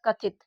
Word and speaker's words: कथित: अब यहाँ पर देखिए इसको पढ़ा कथित, तो यहाँ पर कथित, तो देखिए इस छोटी ई की मात्रा का उच्चारण शॉर्ट टर्म निकल रहा है, यानी कि इसको हम लोग जल्दी पढ़ रहे हैं।